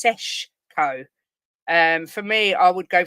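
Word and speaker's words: Šeško: Well, for me, I'd go I don't think it's spelled Sesko, but I think it's Seshko.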